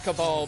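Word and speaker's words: Kabal: cable i love it it is cabal but i also jokingly pronounce it cable don't don't worry good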